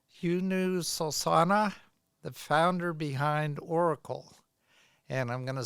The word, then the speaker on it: Orykl: today's guest is Hu Sana the founder behind Oracle and I'm going to spell that for you it's o r y k